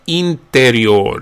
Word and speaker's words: interior: Interior becomes interior. The I again, the initial I is pronounced more like an E.